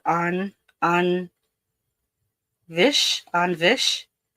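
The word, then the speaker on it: taibhse: So it's an on vish an onvish. It's spelled T A I B H S E and it means ghost.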